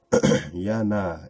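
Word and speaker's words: יונה: difference let's get going Jana is the Ebru way to pronounce the name familiar to all of us Jonah who was swallowed by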